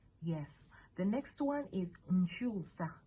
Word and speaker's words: nkyusa: Nswa, that's 1 syllable. Okay. NSWA. Yes. The next one is nchusa. Nchusa is NKYUSA.